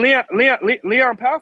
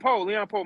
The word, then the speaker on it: Leon Powe: Yeah, and Leon Powell from the town. He played football with Marshawn Lynch. Yeah. Well, you got Tony I mean Allen. Leon Poe. My fault. I said his name wrong.